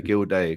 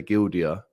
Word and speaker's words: Gilday: If you look up Gilday, which actually comes from, it's pronounced the same as O'Shea, Gilday, because people say Gildia, but it used to be Kilday, but then it got changed to Gilday.